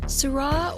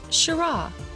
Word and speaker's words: Syrah: changed over the centuries in French it sounded like Syrah with an a sound at the end while in English is